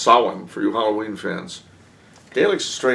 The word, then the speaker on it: Samhain: Pronounced she, like Samhain is really pronounced Samhain for you Halloween fans.